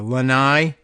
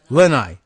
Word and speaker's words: Lanai: uh uh when I I guess is the stresses on the first syllable or Lanai Lanai Lanai Lanai well these the stress seems to be in the on the first syllable here oh no that's right it's on the second I can see now